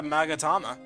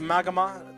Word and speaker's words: magatama: her spiritual Powers well I got a magatama also when I first played this game and I got this I keep mispronouncing it to magama to magamama not sure why all right